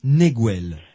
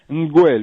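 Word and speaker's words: Ngwel: Eta Neguel. Nguel, oui. Nguel, pardon, excusez-moi. Ça s'écrit N'-G-W-E-L.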